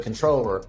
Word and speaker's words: comptroller: But controller is the proper way to say it.